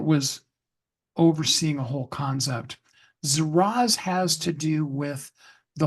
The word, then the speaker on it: Zaraz: The word is Zaraz, spelled Z-A-R-A-Z. Okay. Zaraz. Because if you just put it down on a piece of paper, Z-A-R-A-Z, you probably won't remember how it's pronounced. Zaraz.